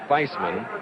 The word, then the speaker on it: Theismann: of Notre Dame says the pronunciation of the sophomores name is Faceman like in Highsmith I don't know whether